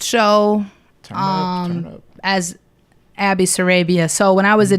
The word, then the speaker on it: Sarabia: thing, but people have always pronounced my last name wrong. Sarabia.